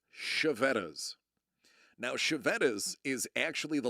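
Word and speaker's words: Chiavetta's: But anyway, so Sean, the third item, that is the way that's pronounced is Chevettas.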